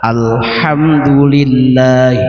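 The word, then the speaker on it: الحمد لله: Eh, ternyata ketika kita baca Al-Fatihah ayat yang kedua, alhamdulillah rabbil alamin. Dibacanya H-nya H besar.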